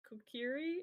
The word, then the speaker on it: Kokiri: Like if you had the Kokiri, am I pronouncing that right?